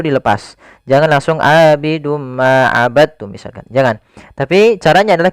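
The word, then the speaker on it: عبدتم: Hati-hati jangan dibaca abadtum ya, tapi langsung dimasukkan ke ta. Abadtum, bukan abadtum.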